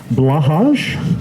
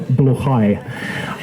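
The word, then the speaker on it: Blåhaj: We have the stuffed IKEA shark blahage, or to use the proper pronunciation, which I'll probably mangle, bluchai.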